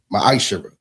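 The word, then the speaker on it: מעשר: You can find this in the book of numbers 18 21 and the book of Malachi 3 8-10 means 10th in Hebrew and is pronounced maisher.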